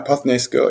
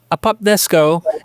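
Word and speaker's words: ἀποθνῄσκω: How specifically did the language, meaning combining apothnesko or apothnisko, am I saying that correct? Yeah, apothnesko, yeah. Apothnesko and hyper, and the thematic framework of Euripides' play resonate with and shape Paul's theological discourse.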